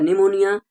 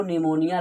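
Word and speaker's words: pneumonia: PPLO pleuro निमोनिया like organism, फ्लोरो निमोनिया like organism. यहाँ पे निमोनिया में पी साइलेंट है, इसीलिए भैया यह निकल रहा है।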